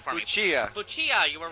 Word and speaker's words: Puccia: We finally found in the middle of the aisle, pronounce the last name for me. Puccia.